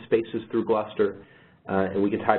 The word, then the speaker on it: Gluster: we also have something called gluster and spelled like cluster with a G um but we have